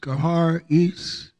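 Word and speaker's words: charis: for grace is spelled c-h-a-r-i-s and it is pronounced gehar east number 54 and 85 which means benefit favor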